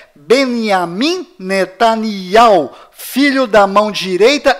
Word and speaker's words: בנימין: Além disto, não é Benjamin. A pronúncia correta é Benjamin. Pois lembre-se, até hoje não existe em hebraico nenhuma letra com som de J.